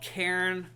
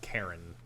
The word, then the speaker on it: Cairn: Cairn, not Karen. Yeah. Cairn. Cairn. Yeah. Karen it's would one be, syllable. Karen would be if she's climbing the mountain to talk to the manager. Yeah. No, it's just Cairn. It's one syllable.